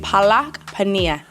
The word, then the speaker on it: palak paneer: Palak paneer.